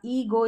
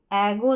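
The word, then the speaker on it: ego: Metro, memo, यहाँ ईगो, इसको एगो नहीं बोलना है, ईगो बोलना है, ये सोलो हो गया।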